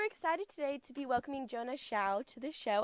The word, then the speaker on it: Jona Xiao: and I'm super excited today to be welcoming Jonah chou to the show how are you doing today I'm grey and that's a great pronunciation of my name how are you when's